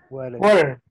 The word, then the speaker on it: water: La T se pronuncia como R. ¿Por qué? Porque, digamos, a esta T le presenta una consonante, perdón, una vocal. Cuando a la T le precede una vocal, usted la pronuncia como R.